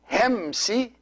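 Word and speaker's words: ϩⲉⲙⲥⲓ: And these two words here, Hemsi, see this word, the first word is two syllables, Hem and then Si. Hem, Si.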